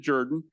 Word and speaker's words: Jordan: By the way, we do pronounce it Jordan.